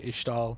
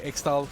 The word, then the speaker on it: Ixtal: I've heard champs say Ishtal. Yeah. I think it's Kiana that says Ishtal the most. People say Ixtal because like it's IX.